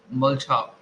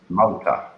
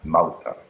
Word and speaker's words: Malta: Mulcha. No, so I haven't heard that before. Mulcha. I type What? it for you. I'll Yes, sir. type it. What? Actually, the pronunciation is. Malta, Malta.